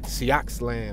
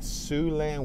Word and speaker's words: Siouxland: Normally, I would have probably said Sioxland or Soxland. But yeah, that's one of those words with silent letters, which sucks.